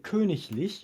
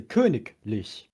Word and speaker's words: königlich: But if you say königlich, which is royal, you don't say königlich, you say königlich. You do not pronounce the ig in the middle of a word as ich, just at the end.